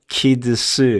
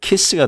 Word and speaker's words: kids: kids 이렇게 소리 날 수 없죠? kids. 만약에 D자 소리를 빼게 되면 kiss가 돼버려요. 그럼 뭐가 됐습니까? 말 그대로 뽀뽀가 됐네요. 키스한다 라는 것처럼. 키스가 아니라 kids. D자 발음이 드 소리를 내지 않더라도 D자 소리가 사라진 게 아니에요.